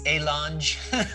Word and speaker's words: Alonge: Do you pronounce the G, Jamie? You Alonge? know, it makes no sense. Alonge? It's Alonge. Alonge.